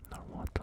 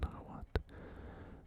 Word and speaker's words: Nahuatl: I do believe that you don't pronounce the L's, like, no, you know, Nahuatl or whatever. You don't sort of hit the L super hard, but could be wrong.